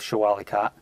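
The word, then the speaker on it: Shah Wali Kot: cop show a leco people pronounce it a lot of different ways I'll go with show Ali khat and and that's where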